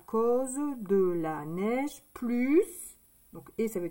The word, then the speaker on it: neige: Espace, neige. Donc, le N. Le E et le I. Ça fait le son E.